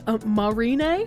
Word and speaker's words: Marine: Marine like Marine Corps? Oh, is it actually Marine? It is Marin.